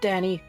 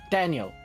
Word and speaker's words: Daniel: my name is Daniel it's not Danny it's not Dan Daniel say it now two syllables Dan y um do